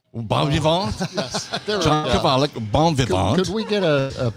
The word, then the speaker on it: bon vivant: John Kovalik, bon vivant. Could we get a pronunciation on that?